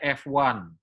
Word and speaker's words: FONE: Oke, jadi Instagramnya adalah @FONE, dibacanya F1, ya.